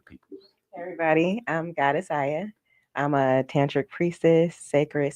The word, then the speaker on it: Aya: May you please pronounce your name? Yes, please introduce yourself to the people. Hey everybody, I'm Goddess Aya.